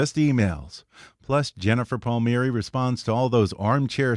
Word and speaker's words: Palmieri: to the podcast so it's Palmieri it's not Palmieri that I it is my family pronounces it Palmieri okay the correct the Italian way would be Palmieri okay meet me airy it's kind of a